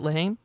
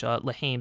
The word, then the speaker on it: La Haine: I believe that's how you say it, Lahaim?